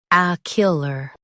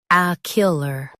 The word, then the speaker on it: ocular: ocular First, let's hear its American pronunciation. ocular Now, read the syllables of US pronunciation shown on the screen naturally. ah kyuh luh ocular ah kyuh luh ocular Now, let's focus on